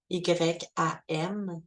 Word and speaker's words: YAM: Le chakra du cœur, ça va être le YAM, Y-A-M, YAM.